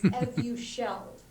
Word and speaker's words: Evusheld: And then just really, really quickly, I've heard this therapeutic pronounced different in different ways throughout this conference, and I want to confirm it's Evusheld. Is that right? Thank you. You picked up on Yeah. You're exactly right.